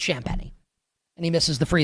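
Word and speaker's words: Champagnie: skit of skits says Champa. That should be how you pronounce his name. But it's Champi and he misses the free throw and then they don't get the rebound on the second miss.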